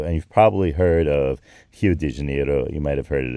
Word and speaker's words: Rio de Janeiro: of s Pao and you've probably heard of H de Janeiro you might have heard it as Rio de Janeiro but that's I'm I'm going for the brazzilian